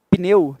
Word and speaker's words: pneu: separação silábica de pneu a pronúncia correta de pneu é uma impulso só de voz e esse é o conceito de sílaba né pneu Tá bom você fala